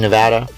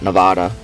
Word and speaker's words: Nevada: to be beautiful and it is Nevada not Nevada everybody during the political debates likes to call us Nevada its Nevada we have a license plate that points out the incorrect pronunciation and as we pull